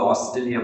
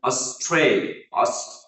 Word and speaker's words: Australia: So এখানে pronunciation number one, আমরা এই দেশটিকে সাধারণত অস্ট্রেলিয়া বলে থাকি, but here Australia, here the middle syllable, the second syllable is stress, and it will be pronounced like Australia.